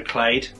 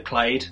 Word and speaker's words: Clade: had Jake yelin Hall as Searcher clade that's at least the pronunciation that I go with based on videos that I've seen on the internet and I felt researcher